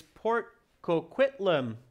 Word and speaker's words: Port Coquitlam: looking for capital letters and the answer is port coquitlam tricky to pronounce it's from my hometown area so that's